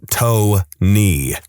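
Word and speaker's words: Toeknee: I know a guy whose name is Tony, but it is spelled Tony.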